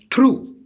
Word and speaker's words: through: So GH becomes silent. For example, the words like in through, T-H-R-O-U-G-H, through.